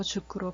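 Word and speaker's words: 塾: 이 사교육에는 이제 주크라는 용어가 있는데 숙이라는 한자를 써서 주크로 발음을 하죠.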